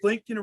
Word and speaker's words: Blinken: You know what Blinken rhymes with? It rhymes with Lincoln.